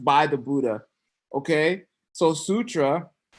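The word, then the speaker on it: sūtra: Sutra? Okay, you gotta try again though. Make it a long U. Sutra?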